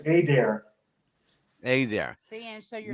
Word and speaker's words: Adair: Is that how he pronounces it? Yes, it's Adair.